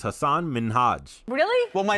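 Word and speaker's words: Hasan Minhaj: long into the conversation ellen mistakenly pronounced hassan's name as hasan minaj instead of hassan minhaj hassan was a little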